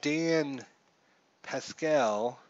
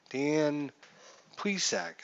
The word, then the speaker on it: Plesac: They might be bringing in Dan Pascal. Dan Plesac. Dan Plesac, I think is how you say that.